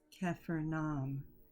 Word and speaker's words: Capernaum: We now enter the town of Capernaum, which is actually pronounced Capernaum.